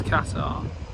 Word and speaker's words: Qatar: because obviously um Oh, there's Qatar or is it Qatar? Well, obviously they pronounce it as Katar.